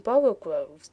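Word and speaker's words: borogoves: Again, the first O in borogroves is pronounced like the O in borrow, so I have heard people try to give it the sound of the O in worry.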